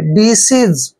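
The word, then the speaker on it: disease: यहां पर ज करेंगे डी सज डी सीज आपने डिसीस नहीं पढ़ना है डिसीज पढ़ना है डिसीज डिसीज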